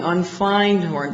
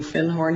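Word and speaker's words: Findhorn: do you have anything onf horn because I'd found a book called The Magic of thorn and he corrected my pronunciation he said you mean fin horn he said our fin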